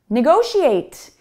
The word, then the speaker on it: negotiate: So negotiate ends in a T sound, not in an E sound.